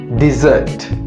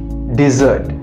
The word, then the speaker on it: dessert: suite which we eat it's always gonna be dessert dessert D like we say ABCD desert desert desert